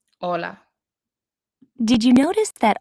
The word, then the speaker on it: hola: Hola. Hola. Did you notice that although hola starts with the letter H, it is not pronounced, the letter H is always silent in Spanish.